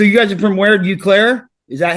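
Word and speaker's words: Eau Claire: Uclair. Is that how they pronounce it? Yeah. Oaklair.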